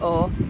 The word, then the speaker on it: Å: if you come to O you need to learn how to properly pronounce it a with a circle above it is pronounced like the letter o o not a you're